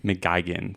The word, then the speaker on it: McGuigan: McGeen, thank you for pronouncing that correctly.